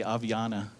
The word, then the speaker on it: Avianna: name is avianna and that's how you pronounce it you have to smile when you say avianna and my mother placed